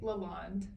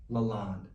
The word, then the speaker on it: LaLonde: pronounce your last name Lalonde Lalonde yeah because I see that e on the end I keep forgetting it's not a long day the E is silent it's French I don't speak French